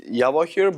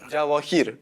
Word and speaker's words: Javokhir: Uh like in Russian everyone says Javokhir, but in general in Uzbekistan Javokhir. Javokhir is if I mean J is in English, But here or here? Here or here? Javokhir.